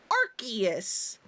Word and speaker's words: Arceus: However, I am fairly certain the English pronunciation for Arus is actually supposed to be Archus with it being an Ark phone.